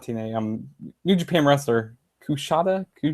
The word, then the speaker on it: Kushida: But you had Kushida. Kusha. He's this TNA wrestler, not TNA. New Japan wrestler. Kushida. How do you pronounce it, DJ? Kushida.